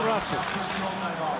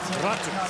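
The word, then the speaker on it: Räty: more of a new sound, so it's Aku Ratu. If you really want to get technical, it's Ratu.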